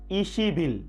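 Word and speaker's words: 이십일: এখন যদি আমরা 20 তারিখ বলতে যাই তাহলে কিভাবে বলবো ই শিব ইল, ইশিব ইল, কিন্তু উচ্চারণ হবে কি ইশিবিল, ইশিবিল।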